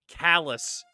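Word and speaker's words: Calais: Well, in Maine, we have Calala, except we pronounce it Callus because of course we do because the French apparently.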